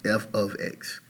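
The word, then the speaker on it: f(x): a function versus an equation and it is pronounced f of X so that we understand the proper way to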